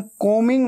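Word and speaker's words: combing: आई एम कोमिंग my hair. कोमिंग को मिंग। ऐसे बोलना है। ठीक है? बी हमेशा साइलेंट होता है। स्पेलिंग में आता है। लेकिन बोलते वक्त उच्चारण में नहीं आता।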